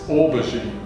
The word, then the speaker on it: aubergine: Okay, I think it's actually a French word, and it's aubergine. Oh, aubergine.